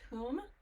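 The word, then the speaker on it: Hum: k r i m cream whom hu M pronounced whom and then so you could do it small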